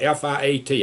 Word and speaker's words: fiat: Unfortunately, many, many years ago, our government got away from that, and then they're doing something called F-I-A-T. I'll pronounce it Fiat money, which they're printing money out of thin air, and there's nothing to back it up.